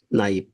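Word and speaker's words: knife: নাইফ। দেখেন এখানে কে এন আই এপি নাইফ। নাইফ মানে কি? সরি এটা আমরা জানি। কিন্তু এখানে নাইফ। এন আই এপি উচ্চারণ হইছে। কে কিন্তু নীরব।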